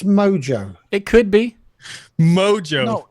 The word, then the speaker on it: Mojo: pronunciation there where's the H in Moho it's mojo it could be mojo like people who call